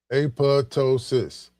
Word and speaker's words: apoptosis: Pronounced apo apotosis or apotosis.